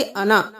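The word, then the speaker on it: أنا: वो साइलेंट हो गया। हम पढ़ेंगे अना अना नहीं पढ़ेंगे।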